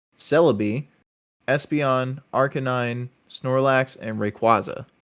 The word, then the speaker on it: Rayquaza: like who else besides Rayquaza yeah I pronounced that incorrectly the first time I forgot it's like quaza like quazar um but who else